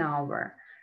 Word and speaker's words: hour: So when we have a silent H in words our honesty, then we use indefinite N, an hour.